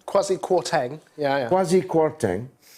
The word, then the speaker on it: Kwarteng: Kwasi Kwarteng, yeah.